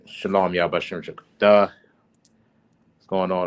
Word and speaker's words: shalom: of the word shalom, the proper pronunciation will be shalom, right? There is no wa in the word shalom, right?